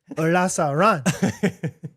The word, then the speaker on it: Olazaran: It's a Mexican last name. Brad can pronounce it. Shay, como mijo, Olazaran.